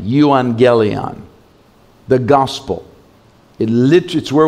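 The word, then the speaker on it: euangelion: of the gospel be it's a Greek word yuan gely and I'll spell it for you II you a n GE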